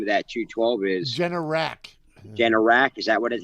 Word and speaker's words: Generac: But the genetic, whatever that name of that 212 is, Generac. Generac. Is that how it's Yeah.